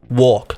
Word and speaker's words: walk: Okay, they're saying she's over pronouncing the L in the word walk, like walk.